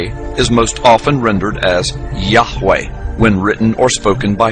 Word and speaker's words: Yahweh: most often rendered as Yahweh when written or spoken by Christians and others. It is still never pronounced aloud by Orthodox Jews. The pronunciation Jehovah is an older, less accurate rendition of these letters.